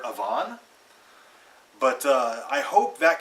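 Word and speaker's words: Evaan: it's a female character this name is spelled e-v-a-a-n I've been calling her Avon but uh I hope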